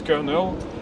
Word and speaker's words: colonel: Par exemple, un exemple que j'aime bien, c'est le mot colonel, qui s'écrit en anglais aussi colonel, mais qui se prononce colonel.